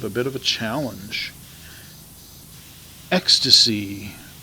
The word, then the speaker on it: Extase: Ecstasy, and it's spelled really weird, EXTASE. It is a really interesting